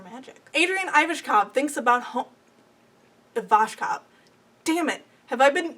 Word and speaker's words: Ivashkov: Adrian Ivashkov thinks about Ivashkov. Damn it. Have I been mispronouncing it?